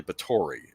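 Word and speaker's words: Báthory: this is count the count as El Elizabeth bori yep uh typically I used in the past pronounce it B but it's really bori um okay Hungarian Countess who if you know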